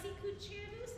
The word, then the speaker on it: Sicut cervus: All right, so just a reminder of the pronunciation. Sicut cervus. Sicut cervus.